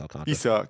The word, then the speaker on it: Alcantara: Defending Cy Young winner, Sandy Alcantara, however I always mess up his last name. Alcantara, yeah. It's spelled Alcantara, but it's pronounced Alcantara.